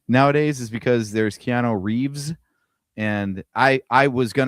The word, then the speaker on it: Reeve: There is no S and Christopher Reev. The original George Reeves has an S.